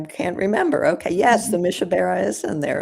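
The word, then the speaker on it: Mi Shebeirach: Um and uh I don't know if I can pronounce this properly, but it's me sky. Yeah, it's Mishabara. Mishabara.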